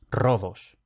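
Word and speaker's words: Rhodos: Y también se lee como fuerte cuando aparece RH, que esto tampoco es frecuente. Entonces, por ejemplo, rodos. Ahora, esta distribución es la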